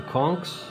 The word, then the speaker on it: conch: cleanup crew scale are the conchs or conch depending on from my guest depends on the pronunciation I don't see any